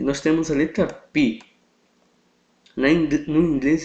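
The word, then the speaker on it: πι: nós temos a letra PI na no inglês eles chamam de pai mas a pronúncia correta é pi mesmo ok da Qual é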